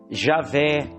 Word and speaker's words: Javé: Já no Monte Sinai, ele se apresenta para Moisés como Iavé, Javé, que essa é a pronúncia em português, Javé, só que o significado é eu sou o que sou.